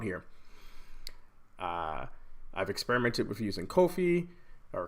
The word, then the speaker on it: Ko-fi: I've experimented with using Ko-fi or Coffee, however you want to pronounce it, Ko-fi.